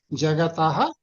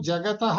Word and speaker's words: జగతః: జగతః పితరౌ. ఇక్కడ చాలా నేను మీకు ఉచ్చారణ గురించి చెప్తున్నది. ఎందుకంటే దీన్ని కలిపి చదివినప్పుడు జగతః పితరౌ అని చదవకూడదు. జగతః ఉఫ్ అని పలకాలి. ఎఫ్ అన్నమాట. జగతః పితరౌ పార్వతీ పరమేశ్వరౌ.